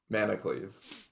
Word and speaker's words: Manacles: Manacles. I kind of like that a lot. I've heard a lot of incorrect pronunciations. It's like Hercules. Yeah, except Hercules, Manacles.